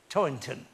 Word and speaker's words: Toynton: It's a it's a difficult surname to pronounce with that T sound in the middle, but I think I got it right. Toynton.